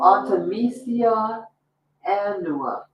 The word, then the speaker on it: Artemisia annua: Artemisia annua. It's spelled A-R-T as in Tom, E as in